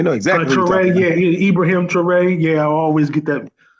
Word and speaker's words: Traoré: Traoré? I want to say it's Traoré. Yeah, we know exactly what Traoré, Ibrahim Traoré.